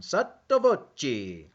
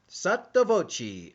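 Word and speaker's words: sotto voce: nine uh sato voci i had to look on how to pronounce that one sattobochi under one's breath drunkenly or in the open sattavoci under one's breath drunkenly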